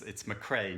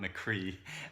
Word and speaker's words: McCrea: I always get Irish names wrong, but it's McCrea, not McCree.